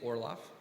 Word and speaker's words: Orloff: for people always ask me how do i pronounce my first name it's okay last name's easy orlov i also go by okay because there's